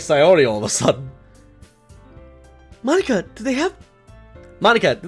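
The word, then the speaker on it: Monika: Monica.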